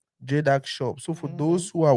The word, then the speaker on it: Jedag Shop: go to your Facebook uh how do you pronounce the name again it's jedac shop jedac shop so for those who are watching um that